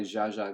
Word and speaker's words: Zsa Zsa: If Z is z, then ZS is Z, but pronounced the way sh is. So, zh. Makes perfect sense.